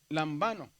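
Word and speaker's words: λαμβάνω: Lambano. Muy bien. Lambano. Está en la penúltima también.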